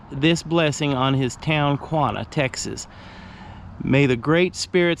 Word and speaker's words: Quanah: have to go onto the reservation system now quanah did very well living in the white man's